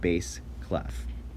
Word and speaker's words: bass clef: kind of like the fish bass but it's pronounced bass clef alright um bass clef is typically used for